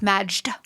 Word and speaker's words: Majd: That's Majd. Majd, M-A-J-D. So you know, when you pronounce it, you sounded like one of my aunts.